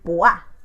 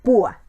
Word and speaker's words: púa: Y aquí no queremos decir puá, queremos decir púa, ¿ok?